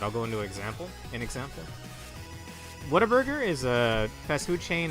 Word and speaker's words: Whataburger: Right, Whataburger. Depending on how ghetto you want to pronounce it, you could say Waterburger. I've heard that before. I don't like that, though.